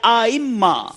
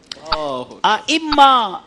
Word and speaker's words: ائمہ: ائمہ یا آئمہ؟ نمبر 2 آئمہ. آپ نے کہا نمبر 2 آئمہ. آپ کا جواب بالکل غلط ہے. ائمہ جواب جو ہے وہ درست ہے, الف پر مدہ نہیں ہے.